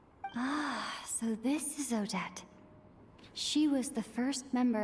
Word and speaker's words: Odette: Okay, that's how you pronounce it. Odette. Okay. हम तो oddity पढ़ रहे थे, what the heck?